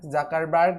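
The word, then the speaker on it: Zuckerberg: সোফেসবুক তৈরি করেছে mark জাকারবার্গ, জুকারবার্গ যাই বলেন স্থানকালভেদে এর উচ্চারণটা বিভিন্ন সময় বিভিন্ন রকম করা হয়ে থাকে। বিভিন্ন জায়গায় কেউ জুকারবার্গ বলে কেউ জাকারবার্গ।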